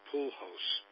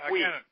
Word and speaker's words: Puig: I'll tell you, speaking of the Dodgers, a guy who seems to be coming into his own is Pujols. I'm sure I'm not even pronouncing that right, but the kid from Cuba is rounding.